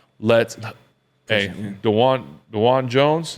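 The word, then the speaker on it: Dawand Jones: like let's hey danan dwan Jones is how you say it dwan Jones 68 374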